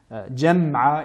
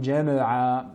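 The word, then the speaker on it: جمعا: Jam'a et non jama'a.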